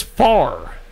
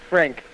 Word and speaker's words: Frank: Is this Far? I hope I'm getting that right. Oh, hey. How's it going? Or is this Fair? I don't know how to pronounce the name. It's Frank. Frank.